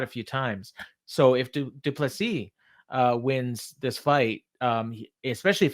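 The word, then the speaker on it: Du Plessis: Almost Duplessis like Dupree in UFC. It's Duplessis. That's his pronunciation.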